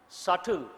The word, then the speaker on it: subtle: Means not explicit, implicit, implied, subtle. Write the meaning of undertone. Implied. Also write subtle. What is the spelling of subtle? S-U-B-T-L-E. B is silent, subtle.